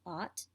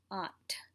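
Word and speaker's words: आठ: understand what you're saying if you said ot but if you really want to be saying things correctly and really excel in your hindi you'll say it correctly which is opt adding that ha at the end and there are a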